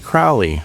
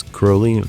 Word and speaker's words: Crowley: Only Ozzy kept pronouncing it Crowley, rhyming it with cow. Bob Daisley, who didn't buy into the spooky rock star posturing at all, corrected him, uh it's Crowley, rhymes with holy.